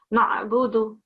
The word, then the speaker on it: نعبد: So in your memorization, in your hifz that you've just recited, you haven't pronounced the ayn sound. It says na'budu, iyyaka na'budu. Yeah. So make sure that you pronounce that clearly.